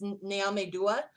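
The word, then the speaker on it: Nyame Dua: symbol and that's actually called uh Naomi sorry I might mispronounce this actually it's naomedua and it means God's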